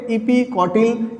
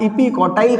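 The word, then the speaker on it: epicotyl: क्या बोलेंगे, इपीकॉटिल या इपीकॉटाइल कई लोग बोलते हैं, प्रोनाउंसिएशन अलग अलग हो सकता है।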